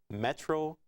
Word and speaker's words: metronidazole: I pronounced that metronidazole.